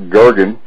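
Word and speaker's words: Goergen: a legendary CEO by the name of Robert gurgen and those of you who want to can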